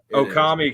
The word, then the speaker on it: Okami: It is Okami came up just because my middle name is Wolf and so translated in Japan it'd be Okami and it rhymes with Tommy.